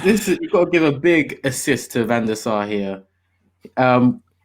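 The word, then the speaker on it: van de Beek: his name so yeah people who are gonna come at me for not saying beak apparently is big um okay uh good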